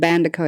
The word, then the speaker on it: Bandeko: This is my real first and last name, Bandeko, and Bandeko is how you pronounce it.